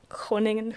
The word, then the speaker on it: Groningen: How do you pronounce it? Groningen.